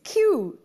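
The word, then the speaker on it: queue: did you figure out which word is pronounced the same even when you remove the last four letters it's q q ue u e which also works as q and that's our cue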